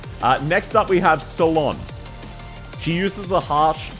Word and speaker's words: Solon: Solon, exactly. It's spelled with a C, but you pronounce it as if she's going to the salon. Saloon is closer to her name correct than Ceylon.